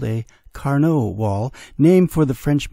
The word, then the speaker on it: Carnot: the local pronunciation of Carnot is Carnot I guess I'm being a little Frenchified in preferring the French pronunciation anyway what makes Carnivale